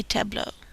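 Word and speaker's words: tableaux: end on Tableau de Tableau the x is silent on buau De buau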